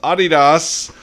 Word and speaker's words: Adidas: Okay, next up, our friends at Adidas, or properly pronounced Adidas, announces a new network that will allow more than 50,000 student athletes to be paid ambassadors.